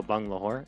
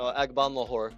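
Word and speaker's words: Agbonlahor: Gabriel Bung Lahore. Isn't that his name? What's that last name again? Stop it. That was a lacrosse announcer's, Did I not pronounce it right? No, Agban Lahore.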